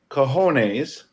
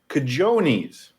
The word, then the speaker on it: cojones: verbally, of course, and says cojones, which is how you would pronounce it. Okay, I know where you're going. Rocky then says cajones. The problem is, which is understandable if you read that somewhere, because you might pronounce the J as an H.